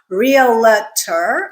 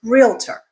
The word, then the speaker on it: realtor: There are only 2 syllables in this word, so don't go adding another syllable in the middle. It is not realtor, it is realtor.